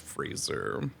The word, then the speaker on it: Fraser: I remember saying it's actually pronounced Fraser. Yeah, but it's Brendan Fraser and Rachel Weisz.